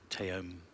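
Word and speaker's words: Taom: Yep, Teom, I think it's pronounced Teom, from Finland, actually.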